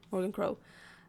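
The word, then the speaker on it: Morrigan Crow: Morgan Crow is how you say Morgan Crow.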